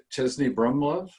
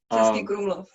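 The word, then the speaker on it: Český Krumlov: Jim had told me about, and if I pronounce it correctly, Chesney Brumlov, is that how you say it? Mm-hmm. Chesky Krumlov, yes.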